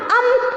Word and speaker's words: अं: एक छोटा नुक्ता दिया जाता है, जिसे हम अम कहते हैं। इसका उच्चारण अम होता है।